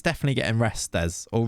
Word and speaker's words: Restes: It's definitely getting Restes or Rest. I think they were saying it Guillaume Rest last night, which would kind of make sense with the French pronunciation.